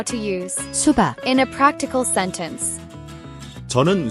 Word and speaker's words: 수박: Here's how to pronounce it. 수박, 수, 박, 수박.